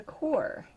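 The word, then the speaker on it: Qor: gotten and it's a core and you've probably heard the name he's pronounced it c-o-r-e core um even though they spell it q-o-r and this was a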